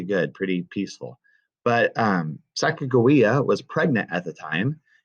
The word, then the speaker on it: Sacagawea: bought her and yeah but her name was sacagawea is how it's commonly pronounced they actually pronounce it sacagawea and um she was a translator she could